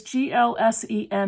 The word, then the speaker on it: GLSEN: is glsen new hampshire the acronym is g-l-s-e-n and it's pronounced glsen and this stands for